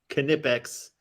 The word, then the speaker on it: Knipex: Does it say the pronounce Knipex? Knipex.